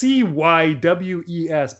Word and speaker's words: Cywes: It's Cywes, but I think he says Cywes.